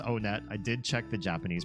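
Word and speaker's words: Onett: It is pronounced Onet. I did check the Japanese pronunciation. And in Japanese, when you go to this first town, they pronounce it Oneto.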